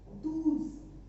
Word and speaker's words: douze: 12 douze.